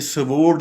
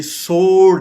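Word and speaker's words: sword: स्वोर्ड, इसको हम अगर ये कहेंगे तो ये हम गलत बोल रहे हैं, ये स्वोर्ड नहीं है, ये सोर्ड है। डब्ल्यू बिल्कुल साइलेंट है, आप ये समझें डब्ल्यू है ही नहीं, तो ये सीधा सा बनेगा।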